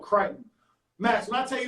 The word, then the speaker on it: Crichton: It's called Crichton. It's spelled Crichton, but it's called Crichton.